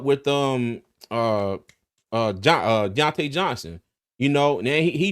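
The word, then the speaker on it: Diontae Johnson: see um did I say it right the Deontay Johnson oh deont yeah Deontay Johnson yeah yeah put him in the lineup on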